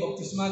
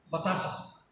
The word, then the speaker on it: बपतिस्मा: ईसाई लोगों को ईसाई बनाने के लिए जो है बपतिस्मा देते हैं, और कई लोग बपतिस्मा का सही प्रोनाउंस भी नहीं करते हैं, बतासा, है ना।